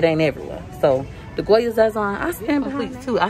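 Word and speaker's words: Sazón: They say I said it wrong, but like I said, it's Zazon by Goya.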